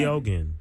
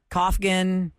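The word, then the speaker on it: Keoghan: in the sequels so his name is spelled ke e o g h an I feel like that's not hard to figure out that how do you say it again kogen kogen kogen okay but people are saying koffin Kegan like I like the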